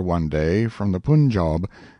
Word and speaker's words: Punjab: one day from the punjab you must pronounce it pun job the handwriting was excellent